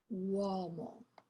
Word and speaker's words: uomo: Wo is like having a wo in that word. Uomo. It's not easy for English speakers to say this diphthong.